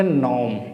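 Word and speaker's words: gnome: ये जी एन ओ एम है यानी कि एन से पहले जी है तो हमें जी को तो प्रोनाउंसिएट करना नहीं है तो क्या बोलेंगे इसको इसको बोलेंगे नॉर्म क्या बोलेंगे इसको नॉर्म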